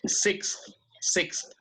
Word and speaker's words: sixth: Se hace casi como 2 sílabas, ¿no? Sixth.